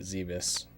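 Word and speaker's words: Zebes: So when you first land on planet Zebus, yes, pronounce it Zebus.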